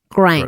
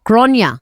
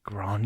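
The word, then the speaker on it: Gráinne: Grain.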